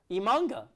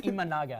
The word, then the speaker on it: Imanaga: Imanga. I don't even think you pronounce that word. I think it's Imanaga.